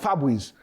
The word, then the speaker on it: Fabrice: a couple of guys named Fabrice. I'm like, Fabrice? Wait a minute. But it's pronounced Fabrice. But it's not the spray, but it's a Haitian name, it's a French name.